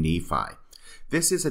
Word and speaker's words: Nephi: name in this statement instead of Nephi he says nifa it is almost as